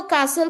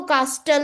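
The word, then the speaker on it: castle: आपने देखा कुछ लोग श को स बोलते हैं, हो सकता है वो कासल को कास्टल बोलते हो, टी को प्रोनाउंस करते हो, बट टी is silent here.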